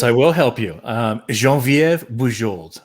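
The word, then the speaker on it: Geneviève: help me yes i will help you um jean viv jean viva french canadian jean vf okay there you go but i just remember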